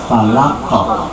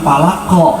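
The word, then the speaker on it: فلق: Jadi pantulannya itu pantulan ke o, tapi jangan falaqo, jangan juga ya. Kalau ko itu disengaja, tapi pantulan saja. Falaqo, gitu ya. Jadi ternyata Bapak Ibu dan rahimahumullah, qalqalah itu sekali lagi bukan dipantulkan, tapi memantul, bukan dipantul, gitu ya. Tapi memantul dari posisi semulanya, dari makhrijnya. Falaqo, lepas saja. Tapi kalau ditekan falaqo, nah itu ditekan namanya. Itu dipantulkan. Dan setiap qalqalah itu pada dasarnya sederhana, ringan.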